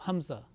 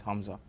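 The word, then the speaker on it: ء: like Ain from the throat, and the Hamza is not pronounced from the throat. It's just pronounced like Alif.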